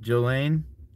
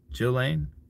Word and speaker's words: Ghislaine: Jillane. The S is silent. Jizz. Jillane. The inverter takes it down to 12 from 24. Ghislaine, you won't get the power to run the inverter with it that way.